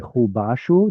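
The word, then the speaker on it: חֻבָּשׁוּ: Mhm, And lo chabashu, or sorry, chubashu. There's another pual, right?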